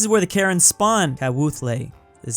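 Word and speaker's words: Kawthoolei: place before this is where the karen spawn kat wuthlay is how you pronounce it oh man i feel so bad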